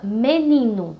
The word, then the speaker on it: menino: A palavra menino. Vamos repetir. Menino. Menino. Então, a sílaba ni é a penúltima da palavra, por isso que ela é chamada de paroxítona, certo?